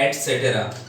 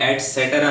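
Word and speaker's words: et cetera: ETC means होता है एटसेट्रा, इसको मैक्सिमम जो लोग हैं जब भी इसका प्रोनाउंसिएशन करते हैं तो एटसेट्रा बोलते हैं, बट दैट इज रॉन्ग।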